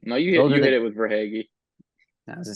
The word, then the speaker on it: Verhaeghe: I mean, guys like McDavid, Draisaitl, Alexander Barkov, Tkachuk, Verhaeghe. Pronunciation might be a little bit off. I think no, you hit it with Verhaeghe.